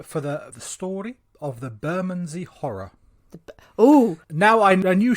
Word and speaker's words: Bermondsey: It's just Bermondsey.